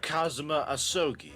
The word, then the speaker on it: Kazuma Asogi: How do you pronounce it? Mr. Kazuma Asogi, if my memory serves.